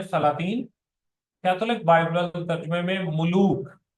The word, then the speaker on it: ملوک: Catholic Bible ترجمے میں ملوک، میم پہ بھی پیش ہے، لام پہ بھی پیش ہے، تو اسے ہم ملوک پڑھیں گے۔ اور اس